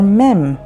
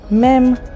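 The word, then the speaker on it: מי: breaths and let's continue this is the letter mem mem sounds like ma let's learn some new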